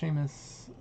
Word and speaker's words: Seamus: Pronounced Seamus.